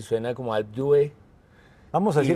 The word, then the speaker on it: Alpe d'Huez: se pronuncia Alpe d'Huez, Yo lo pronuncio lo más colombiano que puedo. Yo digo Alpe de Hues, Alpe d'Huez, pero veo que hay una gente que se la juega por ser lo más francesa posible y sería, y suena